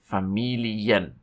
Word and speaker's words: Familien: And this is die Familien.